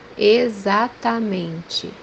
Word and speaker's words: exatamente: which means xícara, xícara, the second pronunciation for this letter when we pronounce it as Z. The example that we have here is the word exactly, which means in Portuguese exatamente, exatamente, the third pronunciation for